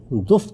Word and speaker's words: دف: سامنے گیت گاؤں گی۔ یہ لفظ عربی زبان میں تو دف تلفظ کیا جاتا ہے، لیکن اردو زبان میں اس کا یہ تلفظ اب رائج ہو چکا ہے، یعنی دف بجاؤں گی اور گیت